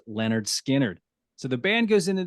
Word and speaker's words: Lynyrd Skynyrd: tonight's album and that is the recording of pronounced Leonard skinnard so the band goes into the studio on